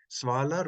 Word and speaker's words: svalar: Svalar resolves in Old Norse, svalar, short A, short first syllable, svalar unnir.